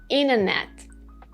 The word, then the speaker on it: internet: When we have N and T right after each other in a word, we just say the N sound, like these words. Internet, internet.